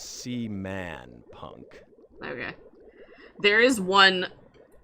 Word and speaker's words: Seaman: I don't know if that says wild a SE man speaking of seaman let's be sure and get my name right skin puppet oh oh my gosh Sean wow Sean it's SE man punk okay there is one if you if